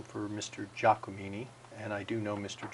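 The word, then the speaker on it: Giacomini: is that's GI a CEO mi ni the pronunciation for mr. Jha Kamini and I do know mr.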